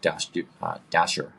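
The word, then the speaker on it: Dashjr: his round so the bit maintainer is Luke Dash Dasher is how it's pronounced um and he I think every month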